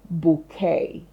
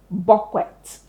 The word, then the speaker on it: bouquet: knew that it was bouquet. Bouquet. However, I've heard a lot of people pronounce it as bquet because that's what it looks like, right? Bquet. Please take note. This word is of French origin.